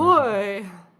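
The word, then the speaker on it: Ahoy!: And I say it like that because there's an exclamation point. See the exclamation? Ahoy.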